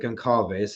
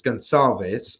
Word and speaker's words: Gonçalves: But Decky McLean taking on Andre Gonçalves, I believe is how you pronounce it, even though it looks like Goncalves. It's Gonçalves, Andre Gonçalves out of England, originally Portuguese, but Gonçalves, 4-1-1, 33 years old.